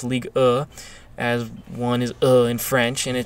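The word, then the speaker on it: Ligue 1: you read it in English however it is pronounced league as one is ill in French and it's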